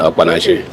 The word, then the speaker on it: Okpanachi: My name is Okpanachi. Okpanachi is is spelled as R E L W A N Okpanachi so K P A N A C H I.